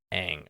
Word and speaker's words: Aang: She's like, "No, it's Ong." And we got in like this argument about what's the right pronunciation. I'm like, "It's freaking Aang, okay? It's Aang. Like it's there's no confusion. It's always been Aang.